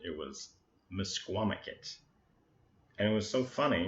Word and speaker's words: Misquamicut: pronounce that and when we finally got the pronunciation it was Misquamicut and it was so funny and we were